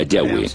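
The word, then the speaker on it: Yahweh: íntimo y personal que normalmente se pronuncia yahwe yah los pasajes con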